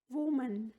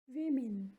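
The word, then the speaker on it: women: वुमन, वुमन। इन हिंदी महिला। वीमेन, वीमेन। इन हिंदी महिलाएं। इससे पहले वीमन भी प्रोनाउंसिएशन करते हैं मोस्टली पर्सनली, बट ये वीमेन होता है, नॉट वीमन।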